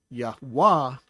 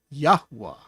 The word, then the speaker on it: Yahuwah: It is not Yahuwah, which a lot of the Hebrew words, the emphasis is on the final syllable. Even the name we just talked about, Dawid, the emphasis is on weed, but it's not Yahuwah, it's Yahuwah. Okay, so that tells us where the emphasis is supposed to be.